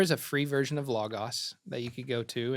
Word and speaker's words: Logos: You don't have to know Hebrew to Logos, right? yeah, Logos. Yep. Which is ironic because it's supposed to be pronounced logos, but it's fine.